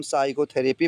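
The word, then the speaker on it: psychotherapy: एस के पहले पी है। इसको हम साइकोथरेपी पढ़ेंगे। साइकोथरेपी पी का प्रोनाउंसिएशन नहीं होगा।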